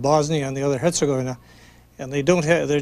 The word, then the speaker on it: Herzegovina: If you say, we hear people pronouncing it two ways, Herzegovina or Herzegovina, which one's Herzegovina. Right? Herzegovina. In most of these words that are Serbian or Croat, the accent is usually on the first syllable.